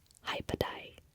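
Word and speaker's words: Hei på deg: Okay, this next one is hypadai. Hypadai. And it means, like, the literal meaning is like hello on you. So it's kind of like another form of saying hello.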